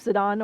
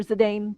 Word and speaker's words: Zidane: of know cuz of zidon or zidane depending on how you pronounce it cuz P Brook doesn't really care if it pronounced either or it's tenderly chicken but